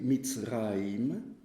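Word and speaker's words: מצרים: Alors l'Égypte, en hébreu, ça se dit Mitzraïm.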